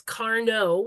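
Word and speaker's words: Cardno: sound and so it's Carno which can easily then become Carney and it's spelled with the D but it is not pronounced with it be aware of those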